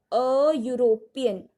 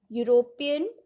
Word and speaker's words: European: Next, a European. European, it is starting with a vowel letter, but the pronunciation is U.